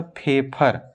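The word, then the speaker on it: Pfeffer: फेफर, एक scientist थे उनका नाम था फेफर। पी से शुरुआत है लेकिन पी साइलेंट है बच्चों, फेफर।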